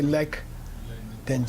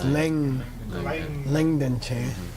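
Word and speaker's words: Legden Je: So, Leng Denje, which is the proper way to say his name, okay? Don't say Lek Denje, it's Leng Denje.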